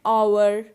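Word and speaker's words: hour: and honest man and our now notice the word our and honest so in both these words h is silent so our and honest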